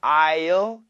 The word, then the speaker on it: I'll: Remember, it's very short. I'll is perfect. I'll. But usually we just say I'll. And in Korean, if I write it in Korean, it's basically with an L.